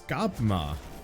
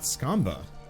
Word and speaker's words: Skabma: It's Skabma, not Skamba.